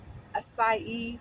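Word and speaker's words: açaí: and I'm getting that assai asai that's how they pronounce aai nutty smoothie yeah that's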